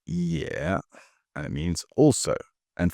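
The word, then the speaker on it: 也: This next character is pronounced Yeah.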